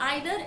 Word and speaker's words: either: आइदर और नाइदर को हम ईदर और नीदर भी प्रोनाउंस करते हैं, दोनों ही प्रोनाउंसिएशन करेक्ट है। मतलब आप आइदर या नाइदर प्रोनाउंस कर सकते हैं या ईदर और नीदर भी बोल सकते हैं।